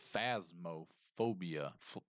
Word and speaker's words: Phasmophobia: It's phasmophobia. Phasmophobia? Is that how it's pronounced?